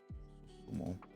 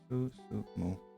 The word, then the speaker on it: Susumu: And the proper pronunciation, we skipped a letter. Susumu.